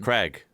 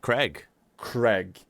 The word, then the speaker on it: Craig: They read this male name... Craig. ...as Craig. A-I-G. Egg. Yeah, A-I-G is it... A-I-G. Egg. Craig.